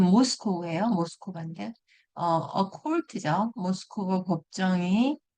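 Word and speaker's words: Moscow: 네, 그러면 그 밑에 네, 발음이 모스코우예요.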